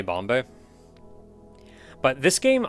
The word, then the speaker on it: Bombe: game is called bombe it's just bomb with an e on the end so I don't know if you like don't pronounce the e um I'm going to say Bombay but this game i'